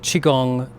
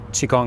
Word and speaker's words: qigong: So, chiong, whether it's spelled with a q, q i g o n g or the older spelling chi, k u n g, uh is the sort